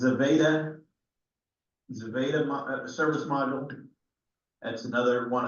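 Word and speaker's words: Zvezda: It's pronounced Zaveda service module.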